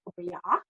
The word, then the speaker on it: obeya: It's actually pronounced as OBEYA, and it means large room.